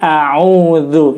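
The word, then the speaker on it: أعوذ: lu ya jadi lidahnya dikeluarkan ujung lidahnya sedikit dan diletakkan antara Gigi atas dan Gigi bawah lembut look gagal bukan Zoo bukan juga ya Jadi a'udzu yang betul berikutnya ke salahan ketiga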